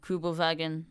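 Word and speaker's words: Kübelwagen: the kubal wagon um I'm pretty sure it's pronounced something else in German it's like kubal vagon I want to say don't judge me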